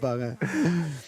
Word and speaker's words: Barin: Not Barno, Cool. but Barin.